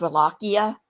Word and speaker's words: Wallachia: Um, he was the Prince of Wallachia. That's with a W. That starts with a W. It's pronounced like a V, but it's a W.